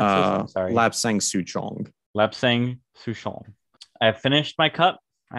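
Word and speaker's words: lapsang: did you say lap saying how did you pronounce it i'm sorry lap sang lap sang i finished my cup i had a big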